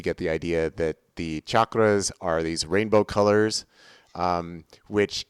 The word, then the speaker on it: chakras: Always mispronounced. Everybody always says chakras, but they're chakras. If you're actually going to use the Sanskrit word, but that is from